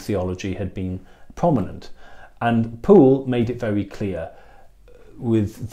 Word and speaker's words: Pole: cardinal poole not cardinal pole by the way his name is actually pronounced pool um he he essentially